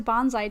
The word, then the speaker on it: bonsai: Everyone always says bonsai tree, but you're not supposed to say bonsai. That's with a Z.